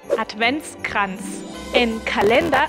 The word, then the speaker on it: Adventskalender: al final de adventus advents en Calenda Solo recuerda que la r al final suena como una a calentar adventus y nos